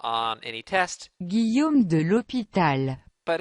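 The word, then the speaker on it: l'Hôpital: google translate so we can learn how to pronounce it okay that's not on any test guillaume de l'hopital but it's just cool it sounds awesome the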